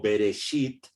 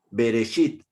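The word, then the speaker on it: בְּרֵאשִׁית: entonces esta palabra que que los hebreos lo pronuncian como bereshit aquí la del medio es la misma que está aquí a la izquierda en la primera línea ok bereshit porque porque ver es porque la letra de labial que es para nosotros con un puntito ahí si ustedes lo ven al medio cuando lleve ese puntito se pronuncia como de de beso ok de bueno si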